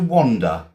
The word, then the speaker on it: wander: Um now, it's spelled wander, w a n d e r. It's with an a, okay? To wander. It's my accent because I'm English. We It sounds like there's an o, okay?